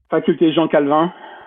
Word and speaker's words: Faculté Jean Calvin: Faculté Jean Calhoun probably, or Calvin in France. Can you pronounce that for us?